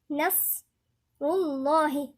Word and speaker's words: نصر الله: فاحنا بنقولها ازاي؟ نصر الله، رول يبقى اللام هنا مفخمة.